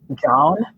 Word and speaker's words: Jawn: In Philadelphia, and my Philadelphia friends are going to laugh, the word that means the most is John, and it is spelled Jawn, and it means basically,